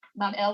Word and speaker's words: Babylon: So the grateful gods now recognize the sovereignty of Marduk, and they build him a magnificent shrine or temple in Babylon, pronounced Bab-El, which simply means gateway of the god.